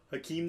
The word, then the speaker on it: Hakeem: He's called the Dream because it rhymes with his first name. Hakeem the Dream Olajuwon.